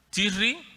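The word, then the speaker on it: Tishrei: este mes séptimo también se llama tirri que se escribe this Rey no en hebreo pero se dice tirri es el mes más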